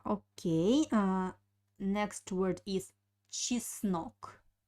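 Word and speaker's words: чеснок: reap look uh okay uh next word is cheese knock cheese snook cheese snook means garlic cheese snook uh pay attention on uh the pronunciation of the letter yeah i don't pronounce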